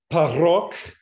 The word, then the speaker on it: parok: The word parok, that's with a P, that is aspirated.